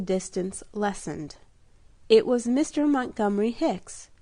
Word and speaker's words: Montgomery: lessened it was Mr Montgomery Hicks whose first name was usually pronounced mcgomery and then degenerated into